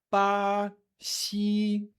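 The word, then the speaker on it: 巴西: Brasil são duas sílabas, é ba, si, mas a pronúncia é pa, si, pa, si.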